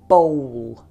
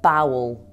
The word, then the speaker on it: bowl: Watch out for the pronunciation of that word, by the way. bowl, not bowel. Very different thing.